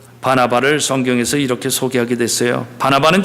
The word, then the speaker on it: 바나바: 발음을 잘해야 되죠. 바나나가 아니라 바나바다.